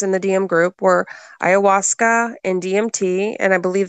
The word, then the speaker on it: ayahuasca: Ayahuasca? You pronouncing that right? Yeah, ayahuasca.